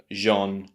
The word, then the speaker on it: genre: But the second syllable, the unstressed syllable, is using that schwa sound and it sounds rather English.